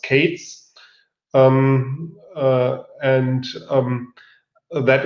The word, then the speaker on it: k3s: then there is uh k3s um pronounced Kates um uh and um